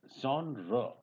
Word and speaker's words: genre: It is genre. That is the real pronunciation. And mostly you'll find that people are making a mistake while pronouncing this word.